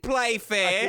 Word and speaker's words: Playfair: That's Playfair. Okay, which rhymes with Mayfair.